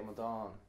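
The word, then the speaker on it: amadán: In Munster Irish, Mm-hmm. the final syllable is stressed. I think a good word to illustrate what we mean is tell me how you call a man a fool. Amadan.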